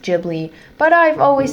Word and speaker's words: Ghibli: And yes, I'm going to say Ghibli and not Jibli, even though I know that in Japanese it would be pronounced Jibli, but I've always said Ghibli, so I'm going to stick to my roots.